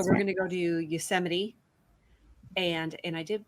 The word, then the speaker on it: Yosemite: national park so we're going to go to yosemite and and i did pronounce that correctly yes yosemite and we're also going to go to kings